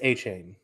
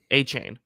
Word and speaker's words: Achane: I believe it's A Chain. Achane.